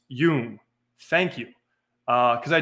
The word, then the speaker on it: Jung: Um, for the future, his last name is pronounced Yung.